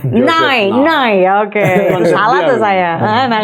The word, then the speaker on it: Nye: about soft power Nye, bacanya Nye ya, Joseph Nye itu Nye, oke.